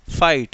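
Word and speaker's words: fight: एफ आई जी एस टी, फाइट, क्या इसमें जी एच का कोई साउंड आया, नहीं आया। ठीक है, नेक्स्ट, साइलेंट एल।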